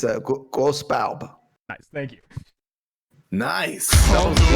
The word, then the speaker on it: Grosse Barbe: It's a Grosse Barbe.